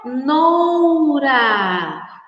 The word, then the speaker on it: cenoura: Vejam só, crianças, quando nós falamos cenoura, C, C-E. Quando nós pronunciamos sé, tem o som de S, mas é escrito com a letra C.